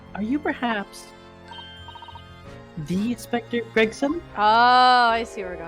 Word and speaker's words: Gregson: I feel like you're inserting an extra syllable. Gregerson, say Gregson.